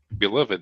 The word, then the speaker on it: beloved: Beloved does not rhyme with loved.